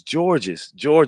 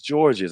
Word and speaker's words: Georges: he saw me on, people were pronouncing my name wrong, Yeah. and so he was like, "It's George's. I wanted to make sure I get it right."